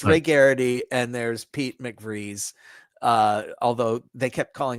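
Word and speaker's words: McVries: There's Ray Garity and there's Pete McVrees. Uh although they kept calling him McVry and I it's spelled B R I S.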